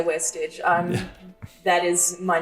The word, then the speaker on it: VVestage: It's pronounced Westage. I am just going to say Westage.